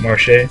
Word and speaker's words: Marche: you guys want to pronounce it I I pronounce it Marche so there you go and who whoa whoa